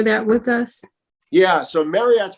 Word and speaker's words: Maryott: with us yeah so marriott's pronounced just like the hotel but it's m-a-r-y-o-t-t and